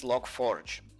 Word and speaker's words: Log4j: how it's spelled, and people just pronounce it as Logforge.